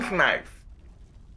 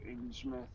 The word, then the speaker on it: Innsmouth: Innsmouth. Is that the town, is it? Yeah, it can be pronounced either way, but I think it's like Innsmouth in the UK, believe it or not.